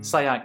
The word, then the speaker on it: Sayak: Good evening, Sayak. Am I pronouncing your name correctly? Yeah, absolutely. That's the correct Sayak. pronunciation.